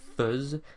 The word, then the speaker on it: fais: Then from that we remove the ONS, which gives us fuzz. Yes, it looks like fez, but it's pronounced fuzz.